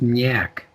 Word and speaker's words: Nyack: busy uh first up new york new york is pronounced nyack yak yeah yeah that's yuck yeah